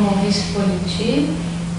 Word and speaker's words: Maurice Politi: Hoje é dia 27 de outubro de 2008, entrevista com o Maurice Politi, não sei se a pronúncia está correta.